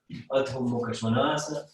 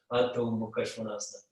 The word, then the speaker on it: Adho Mukha Svanasana: So we're coming into Adho Mukha Svanasana, down face dog. Adho Mukha Svanasana. Okay, I'll repeat the pronunciation because it's very easy to mispronounce it. Adho Mukha Svanasana.